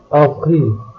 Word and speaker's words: avril: If a French word begins with C, R, F or L, which are consonants from the word careful, the final letter is usually pronounced. Otherwise, the final letter is silent.